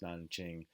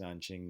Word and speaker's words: Nanjing: na n ki ng is sometimes spelt with a J instead of a K both pronounced Nanjing in either case Nanjing Nanjing you might hear